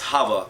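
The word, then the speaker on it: Chava: another name I call I pronounced it as hava hav a H you can probably look at him footnote sometimes it's spelled with a see some Hebrew words like Chanukah actually have a silent seat so you might see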